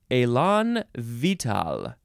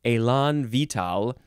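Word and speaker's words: élan vital: is Elon Elon vital Elon now where is the emphasis I don't think there's any syllable that gets more emphasized uh this is two words the first word is exactly like the one about being vigorous and enthusiastic uh the second word looks like vital v-i-t-a-l this is a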